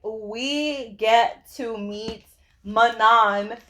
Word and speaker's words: Manon: So, guys, her name is pronounced Manon.